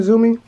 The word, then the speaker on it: Tzumi: All right, but that's been a quick review of these cheap off-brand or knockoff Hue lights from TZUMI or ZUMI or whatever you want to say it right here, ZUMI.